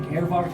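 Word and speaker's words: Aervardt: Earvart is spelled A-E-R-V-A-R-D-T.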